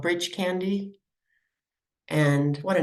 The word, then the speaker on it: Breach Candy: from this place called Breach Candy and what a name right it's spelled Breach Candy maybe they got the misspelling for the Brach's candy screwed up there but anyway they pronounce it bridge candy and that's along the